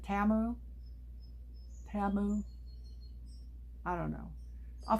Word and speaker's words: Temu: that don't know what Temu is anymore. And I'm supposed to be pronouncing it differently. I think it's Temu. We've done Temu for so long, but apparently they pronounce it Tamu.